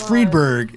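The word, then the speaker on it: Friedberg: mispronounce did you sayber it's freedberg it's freberg I pronounce a fber because it's f r i d and I'm a a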